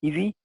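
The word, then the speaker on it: ESII: identification and inventory tool pronounced by its esi acronym as easy and this tool is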